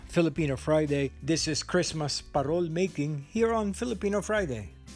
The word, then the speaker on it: parol: yuletide warmth then the parole parole is filipino for lantern parol pronounced with a rolling r came from the spanish